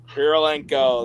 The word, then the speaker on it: Kurylenko: I don't know how to say this girl's name, but it's Olga Kurylenko. Kurylenko.